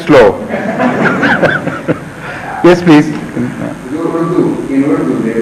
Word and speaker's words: Slough: And which my private secretary insists should be read slow, because whenever someone is from Slough, he always writes it slow.